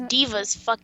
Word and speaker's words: D.Va: forgot about that cuz Diva's bait that's how you say it Diva yeah d.va yeah Diva you want to